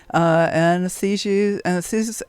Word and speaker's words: anesthetist: ER, doctor, anesthetist. How do you say that word? Anesthesiast? Anesthetist, yes. Anesthetist. There we go. Got to get the accent on the right syllable.